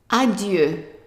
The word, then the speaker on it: adieu: Now, the I, when it's followed by a vowel, it becomes like a Y sound. So, how do you pronounce the whole word? So, this one is an E, this is Y sound, and this is an A. So, how do you pronounce the whole thing? Right. Adieu. Adieu.